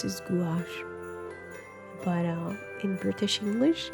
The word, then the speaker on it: gouache: looked it up and the word gouache comes from french and apparently in america we're supposed to pronounce this gouache but uh in british english it's gosh just because no um